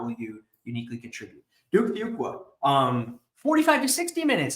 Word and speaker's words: Fuqua: is one that says you could think of it as one qu two qua three qua a few qua um kind of a